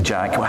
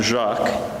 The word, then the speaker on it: Jacques: The trick to my name is mainly to ignore most of the letters when it's written down. Okay. So it's pronounced Jacques. Yeah. But I think in France they say it more similarly to how you say it.